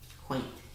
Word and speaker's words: quaint: a like sale so the a is long the I is silent and that's how to code it and tell me the word again quain quaint quaint means kind of